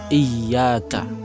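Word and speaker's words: إياك: Al-Fatihah, khususnya adalah lafaz iyyaka. Lafaz iyyaka itu adalah lafaz yang yaknya itu mengandung tasdid, maka kita harus membacanya dengan tasdid pula.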